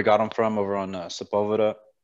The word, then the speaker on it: Sepulveda: him from over on sepulveda as my wife said supple veda she didn't know how to pronounce it so we um